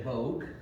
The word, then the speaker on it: Bog: As it turns out, uh the middle name Bog is pronounced a couple different ways. Um I think here they say Vogue, which reflects more of the French in the history.